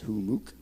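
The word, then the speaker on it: Humux: org run by humuck h-u-m-m-u-x is how you spell it but it's pronounced who mooc we're doing a live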